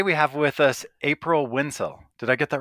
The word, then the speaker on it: Wensel: have with us April WIIL did I get that right yes it rhymes with pencil awesome and uh I